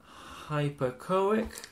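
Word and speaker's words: hypoechoic: Like, this is not an, because it's, you pronounce the H. Like a hypochoic.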